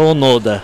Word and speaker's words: Onoda: Parabéns, Haroldo, ele me corrigiu, eu falei Onoda, né? Onoda. Onoda, tá certo? É isso, a pronúncia correta é Onoda.